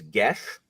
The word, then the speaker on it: geas: So what I learned is the actual pronunciation of geas is gesh.